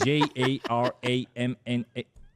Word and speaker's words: Jaramana: aux gens à Damas ça se prononce ainsi J A R A M A N A -Jaramaia -Jaramaia -En arabe, tu connais? -Oui, oui -C'est Jaramana -Bon merci Tu ne